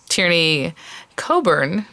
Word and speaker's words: Tierney Coburn: Flora, or just Susan's Tierney Coburn, which it looks like it's pronounced differently, but I've heard her say her own name, and that's how she said it, is a whole set